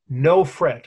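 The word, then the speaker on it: Nofret: queen his within to his princess and princess no fret i love that n-o-f-r-e-t okay she never worried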